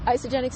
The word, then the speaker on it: Isagenix: So tell us about Isagenix, if I'm pronouncing it correctly. Yep, Isagenix is a health and wellness company.